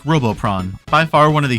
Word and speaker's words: Robopon: Spelled like this, pronounced like Robopron.